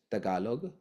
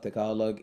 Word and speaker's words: Tagalog: T is dentalized as a hybrid T and D. So forever is like forever, and Tagalog is Tagalog, and Philippines is Philippines.